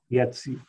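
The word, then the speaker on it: Iezzi: Yetzi.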